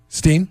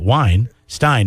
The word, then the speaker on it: Weinstein: just changed my mind because you pronounce it wine Stein and it's spelled exactly the same yeah I am you